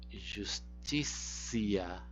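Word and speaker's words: justitia: O T você vai sempre pronunciar como C quando ela for seguida de um I breve. Justicia, justicia, tá bem?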